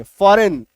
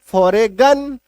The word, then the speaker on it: foreign: Last में, है ना, तो यहां पे जी का उच्चारण नहीं करना, जी का उच्चारण नहीं करना।